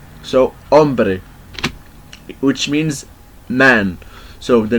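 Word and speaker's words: hombre: find this letter in the example of ombre ombre and by the way this letter is silent doesn't have any voice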